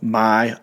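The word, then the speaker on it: Maia: And he spelled it M-A-I-A. And, I was just reading this, so I said, nice, how do we pronounce this? And then he wrote, Maya. It's a variant of Maya.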